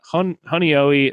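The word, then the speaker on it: Honeoye: Honoi.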